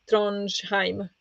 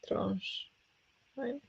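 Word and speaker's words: Tronjheim: In German, the pronunciation it's called Trondheim, not him. Trondheim.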